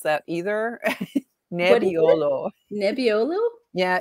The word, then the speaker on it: Nebbiolo: And that's my dog Nebbiolo. Nobody can pronounce that either. Nebbiolo.